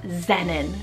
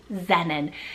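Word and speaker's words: Xennon: in general now time for X we have Xenon spell x-e-n-n-o-n Xenon now this one means gift it's very sweet sounding Xenon but it's so futuristic so futuristic especially with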